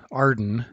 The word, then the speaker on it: AREDN: which is often pronounced arden based on the acronym made from its first letters arden provides a way